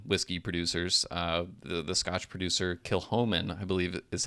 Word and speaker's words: Kilchoman: The Scotch producer Kilchoman, I believe is how it's pronounced. I think I was mispronouncing it in last year's episode. Yeah, the C is silent, I believe.